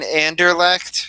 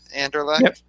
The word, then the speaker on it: Anderlecht: I mean, Anderlecht has been. I think that's how you say it, right? Anderlecht.